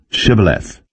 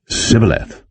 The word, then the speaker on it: shibboleth: nay then said they unto him say now shibboleth and he said sybileth for he could not frame to pronounce it right then they took him and